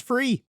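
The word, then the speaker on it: Frei: no claims otherwise turns out maker was right check the source it's pronounced free i'm bad at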